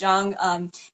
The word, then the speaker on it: Chiang: And my last hmm, name is Chiang, though it's pronounced Jung as if the CH were a J.